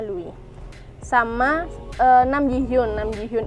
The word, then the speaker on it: Louis: susu induk yang jadi Louis lebih-lebih bacanya Luwih sama enam ji-hyun Nam